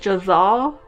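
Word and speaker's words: Jezal: We also have I'm gonna mispronounce his name, Jazal. It kind of sounds like Giselle, but it's Jazal. I wish I could see how it's written, but audiobook. Jazal, which he is like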